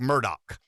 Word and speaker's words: Murdaugh: a fairly extensive debate yesterday Rev on the Murdoch trial now now it's spelled Alex murdahl it's pronounced Alec Murdock only in South Carolina can you get away